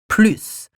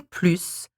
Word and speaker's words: plus: number one numero a this word here can be pronounced either with an s or without which means that we can hear it as plu or plus so when do we